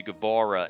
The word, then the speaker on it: Guevara: because the sex gods sammy guevara and uh sammy gabora gotta say it like that sami gabora and and chris jericho